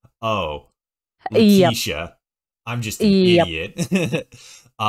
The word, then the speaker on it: Letitia: And then I looked at your thing on Discord where you actually like put the proper pronunciation. I'm like, oh, Yep. Letitia.